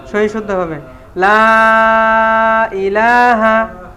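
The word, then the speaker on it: لا إله: ঠিক আছে না সহি শুদ্ধ হবে লা ইলাহা উচ্চারণটা হবে এরকম হ্যা লা ইলাহা এখানে তিন আলিফ টান আছে তো এই যে লা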